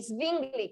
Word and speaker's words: Zwingli: Lutero, Calvino y Zwingli, que se escribe, se me olvidó su primer nombre, pero es Z-W-I-N-G-L-I.